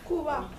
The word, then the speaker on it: Cuba: Cuba.